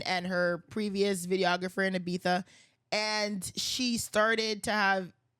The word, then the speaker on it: Ibiza: Is that how you pronounce it? Yeah, yeah. Ibiza.